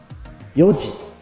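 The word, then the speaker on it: 四時: 時は見てください、4 時と言います。ここをよく覚えてください。4 時、5 時、6 時、7 時、8 時、9 時。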